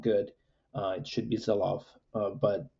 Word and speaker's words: Sylow: at least in the US uh we say syllo it's the pronunciation is not good uh it should be zilof but u but we we say syllo in